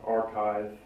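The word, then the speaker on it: arXiv: cellular evolution papers on archive which is spelled a a-r-x-i-v and i read a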